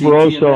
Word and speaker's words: Barroso: That was huge because, in my opinion, was he Barroso or Broso? Is that how you pronounce that? Yeah, Barroso.